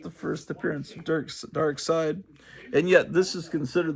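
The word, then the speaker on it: Darkseid: is important because it's the first appearance of dark side which I used to think was pronounced dark seed until I saw that everyone apparently pronounces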